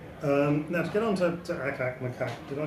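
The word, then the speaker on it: Ack-Ack Macaque: Now to get on to Akak Makak, did I pronounce that properly?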